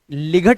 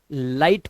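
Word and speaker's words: light: बोला गया है कि जी एचटी में आया हुआ जो जीएच होता है ना ये हमेशा साइलेंट रहता है ध्यान रखना तो इसे लिग नहीं लाइट पढ़ेंगे इसी तरह से यहां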